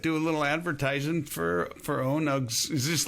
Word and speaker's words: ONUG: Some people call it ONUG. Okay. I prefer ONUG. Yeah. Phonetically, that's correct. Or I guess as it would be pronounced in English class, it would be that would be right.